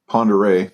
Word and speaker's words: Ponderay: If you're curious about that part, it is Ponderay, spelled phonetically, not like the French.